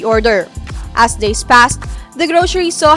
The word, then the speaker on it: Groshery: asking no why the grocery para it's a mispronounced grocery store wow groceries yeah because